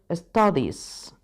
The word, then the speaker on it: studies: No me pronuncies esa E. Studies.